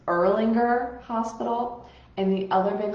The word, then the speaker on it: Erlanger: A little pro tip, when you read these hospital names, you're going to be like, I have no idea how to pronounce them. It's Erlanger Hospital, and the other big hospital chain goes by CHI.